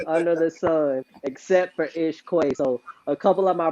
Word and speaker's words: Ish Que: So when everybody sees your name, we want them to make sure they pronounce it correctly, Ish Quay.